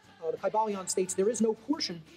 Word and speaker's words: Kybalion: y sounds you know it would have been a long I sound K bang and every